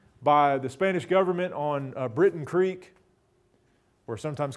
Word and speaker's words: Breton Creek: the Spanish government on Britain Creek, or sometimes called Burton Creek, usually not called Breton Creek. You know, we just don't pronounce anything the way it's spelled in the Ozarks.